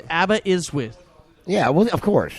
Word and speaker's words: Aberystwyth: So I could say it's Aberystwyth. Yeah, well, of course. It's the S's are pronounced Now that I see it. Z, like a Z.